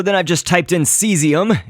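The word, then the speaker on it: caesium: And so then I've just typed in seesium. It's pronounced that way, but it's spelled like caseium it might look like to you, but seesium is a chemical element.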